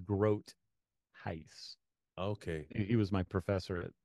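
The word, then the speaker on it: Groothuis: name his name is Groce it's German Gro okay okay I always pronounce no it's actually Dutch I shouldn't say it's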